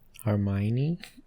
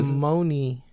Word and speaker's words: Hermione: Hermione? You got it. Oh, no. I was about to say Emma Watson. Okay. Let's see. Did I say her name right? I've never been able to. Hermione. Hermione.